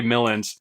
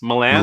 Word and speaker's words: Milland: starting with uh Ray Milland and did you say Ray Milland Miland Miland Miland yeah doesn't sound right any way you say it okay but that's how you say it mil yeah um